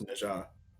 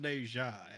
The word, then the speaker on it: Naja: It's Naja. Yeah, it's Naja. Yeah. Yeah. I knew that. Okay. You'll find it's pronounced Neja, actually.